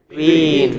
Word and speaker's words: between: But the next word, the second part is stressed. So, what is it? Between.